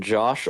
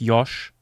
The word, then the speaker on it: Josh: Uh, also Dark Balor is asking, uh, is Yosh spoken Josh or Yosh? It's, if you want to pronounce it, uh, German, it's Yosh.